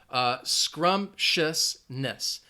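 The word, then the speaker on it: scrumptiousness: give some shoutouts Krishna there are three syllables the reason I chose this word is because it is a long word but it has few syllables scrumptious Ness and you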